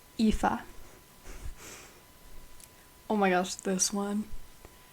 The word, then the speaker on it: Aoife: I pronounced it as Ife. It's pronounced Aoife.